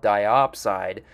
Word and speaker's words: diopside: The next mineral we have rhymes with dioxide but is actually called diopside, but it's basically formed in the same manner that wollastonite is in this deposit.